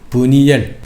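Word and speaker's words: 브니엘: 그래서 그곳의 이름을 버니엘 원래 발음으로는 페니엘입니다. 페니가 뭡니까?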